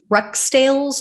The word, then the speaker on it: Rukstales: responsibility at all so brad russ rextales i believe is how you pronounce it is a 53 year